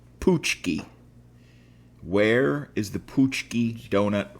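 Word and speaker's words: pączki: p a c z k i and it's pronounced poochki where is the poochki Donut from it definitely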